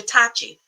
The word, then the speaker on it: Tachi: Okay, so it's CH like chair. Okay, Dr. Tachi, right?